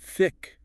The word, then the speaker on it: thick: And thick. Practice that unvoiced TH. Like thumb, not tick.